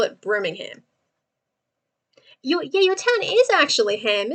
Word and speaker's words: Birmingham: No, we don't say the H in that. It just gets completely skipped over, and the A is a U.